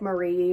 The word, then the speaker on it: Marie: very very much and her name is spelled like Marie but you pronounce it Mari because she's named after